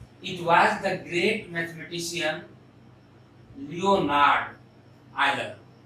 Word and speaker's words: Leonhard: It was the great mathematician Leonhard Euler. H is silent. Leonhard नहीं, Leonhard.